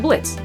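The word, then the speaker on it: Blitzø: It's like Blitz, the O is silent.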